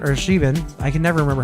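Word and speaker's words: Siobhan: s I forget how to pronounce her name saan or shean I can never remember how to say Connor and Roman Shaban thank you as like I don't watch this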